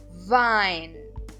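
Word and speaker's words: Wein: significa em português vinho então observem eu Estou pronunciando as vogais e i como a i então eu digo e não ok então a pronncia é a i Vine próximo exemplo my my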